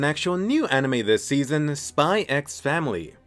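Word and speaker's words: Spy × Family: Switching it up with an actual new anime this season, Spy X Family. It's like Hunter x Hunter, the X is silent. Spy X Family.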